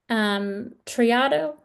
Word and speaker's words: Triado: Triado, I'm pronouncing okay, got it.